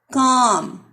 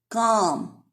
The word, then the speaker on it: calm: Calm. L is silent.